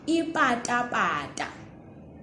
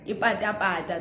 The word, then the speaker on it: ipata-pata: Listen to this one. Ipata-pata. Ipata-pata, those are like slopes, slippers rather. All right. Ipata-pata. That's the ta we're talking about for now.